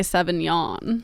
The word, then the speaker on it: Sauvignon: yeah I don't know would you spell it i g n o n yeah it's like yeah you have to act like you're yawning yeah it's pretty I